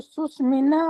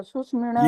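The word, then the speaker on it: सुषुम्णा: जी प्रेम जी ने सुष्मिना बोला था सुष्मिणा यस ये वाले मैंने तो ज्यादा इसी पे ही ध्यान दिया था जो ण है ना जो का उच्चारण सुष्मण ये आना चाहिए अगर सुष्मिण बोलेंगे न और ण के बीच में आएगा तो भी अशुद्ध ही माना जाएगा शुद्ध का मतलब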